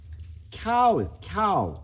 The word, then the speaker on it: cow: 카우 이거는 이제 한국말 발음하듯이 편하게 하는 것이고 원래 이제 영어 원음에 가깝게 하려면은 cow 거의 cow 이렇게 발음이 되잖아.